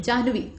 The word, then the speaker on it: जाह्नवी: जाह्नवी, ह का उच्चारण पहले होगा, न का बाद में होगा।